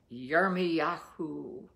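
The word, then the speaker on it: ירמיהו: and our dear teacher friend scott has taught us that it is pronounced yermi yahoo in hebrew so yahoo chapter 51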